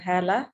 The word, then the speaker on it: Hala: Hala or Hala, you will pronunciate your name now. It is Hala actually.